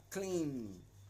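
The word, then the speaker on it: Klim: It's spelled K L I M. Clean. Okay. But it's a singular sound.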